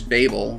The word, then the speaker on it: Babel: In fact, the Arabic word for Babylon is Babel, which is why I've been pronouncing it that way throughout these videos, and